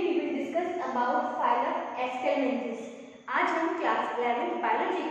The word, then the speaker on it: Aschelminthes: Today we will discuss about phylum Ascelminthes. आज हम class 11 biology के चैप्टर 4 का एक फाइलम डिस्कस करेंगे. इसका नाम है Ascelminthes. ठीक है, आपको इसका प्रोनाउंसिएशन करना आना चाहिए, Ascelminthes.